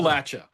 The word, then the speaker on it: Appalachia: How do you pronounce it appropriately? Appalachia.